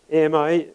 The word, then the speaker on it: AMI: am uh at meta we pronounce it Ami because there's a lot of French speaking people and Amy means friend in French so we think that's appropriate we prefer this Ami acronym to AGI the